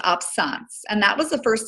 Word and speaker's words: absence: to talk about is the absence seizure and it's spelled absence but it's it's pronounced absence and that was the first seizure that Megan